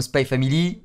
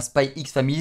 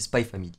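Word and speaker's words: Spy × Family: Voilà, c'est comme Spy Family, c'est pas Spy X Family, c'est Spy Family.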